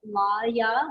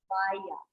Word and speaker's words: laya: So when it sounds like L-I, but Laya, when you bring it into the Y, it kind of changes that sound like Laya.